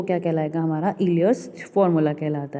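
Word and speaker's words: Euler: देखो इन्होंने यहाँ पे मेंशन भी किया है, जो उसका प्रोनाउंसिएशन होगा वो क्या होगा, इलियर्स फॉर्मूला होता है।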